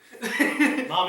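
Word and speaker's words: Mami: feel so stupid saying her best friend's name mommy mommy that's how you pronounce it m-a-m-i I better know kitty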